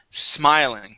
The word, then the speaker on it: smiling: now the next word you would said s smiling adding an e at the very beginning of the word let's focus on the S okay we want to say still smiling try that please still